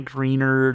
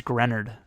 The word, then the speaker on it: Greenard: It's not Greenard or anything like that. Or maybe it's Grenard.